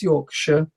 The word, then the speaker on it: Yorkshire: So if you talk about dogs as if you talk about the city, it's Yorkshire.